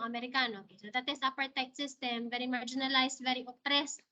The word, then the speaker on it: apartheid: APARTHEID, ang pronunciation niya ay apartheid.